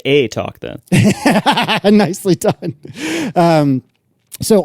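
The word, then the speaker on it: eTalk: think might be Canadian uh they talk it's pronounced a talk then nicely done um so on it talk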